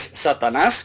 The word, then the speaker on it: Satanás: Es Satanás, con acento en la última A.